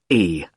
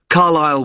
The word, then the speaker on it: Carlisle: It's Carlisle. You don't pronounce the S. Carlisle Way.